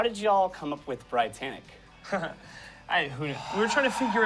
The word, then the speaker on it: BriTANicK: It was like, hey, what if we called ourselves BriTANicK? Because it's like Brian and Nick and like Titanic, but different.